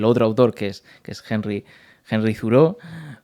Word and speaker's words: Thoreau: Cuando la pronunciación, eh, al menos la que yo utilizo, viene más de una acentuación más francesa, ¿no? Más afrancesada, la de Thoreau.